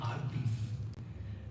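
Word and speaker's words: आर्ति: They are artis. Some people keep the name Arati, but they pronounce Arti, Arti, Arti.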